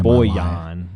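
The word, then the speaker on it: Bojan: he had the quietest 30.9 I've ever seen Boyan the way they pronounced it last night we were we were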